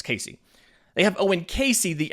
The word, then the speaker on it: Caissie: I believe that's how you say it, it's Casey.